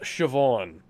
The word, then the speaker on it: Siobhan: It's just Siobhan. That's actually pronounced Siobhan.